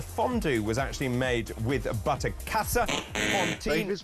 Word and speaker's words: Butterkäse: Now, the fondue was actually made with butterkäse. David's pronunciation of the German cheese, it's not butterkäse.